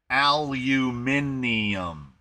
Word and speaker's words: aluminium: Not only did they uh not only did they spell aluminum wrong, they added a whole syllable. Aluminium.